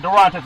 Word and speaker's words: Durantes: Now, Durantes, when you think about it, Durantes is the name, proper pronunciation, making her the first Latina to fill that role in the NFL.